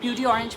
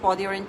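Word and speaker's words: peau d'orange: আরেকটা সাইন হতে পারে যেটাকে আমরা বলি পদি অরেঞ্জ চেঞ্জ, অনেকে পিউডি অরেঞ্জ বলে, বাট এটার প্রোনাউন্সিয়েশন হচ্ছে পদি অরেঞ্জ চেঞ্জ।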